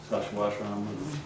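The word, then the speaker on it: Sacsayhuamán: Sashwashram, that's the right way to pronounce it, in Peru.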